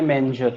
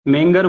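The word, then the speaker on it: manger: डॉग इन यस, डॉग इन ए मेंजर, ठीक है। इसका प्रोनाउंसिएशन कल मैंने गलत बोल दिया था, मेंगर बोल दिया था, इसका प्रोनाउंसिएशन मेंजर होगा, मेंजर, मैनेजर नहीं, मेंजर, ठीक है।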